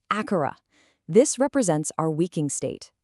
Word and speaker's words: Akara: The first sound is Akara, pronounced Akara.